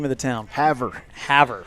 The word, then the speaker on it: Havre: Havre. Havre, Montana.